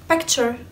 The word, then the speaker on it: picture: اخر حاجة بقى واسهل حاجة هي تشر T U R E تشر. picture مش بيكتشر ولا بيكتشر, لا picture.